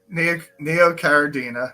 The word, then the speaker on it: Neocaridina: Neocardina and Cardinia Yes. shrimp. Did I Yep. say that correct? Neocaridina and Caradina.